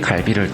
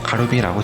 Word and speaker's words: 갈비: 일본의 맥도날드 대표 메뉴는 한국 식문화가 전 세계로 퍼져나가자 예전의 키무치 사건과 같이 한국의 갈비를 되도 않는 발음으로 가루비라고 칭하며 가루비 버거를 팔고 있는데요.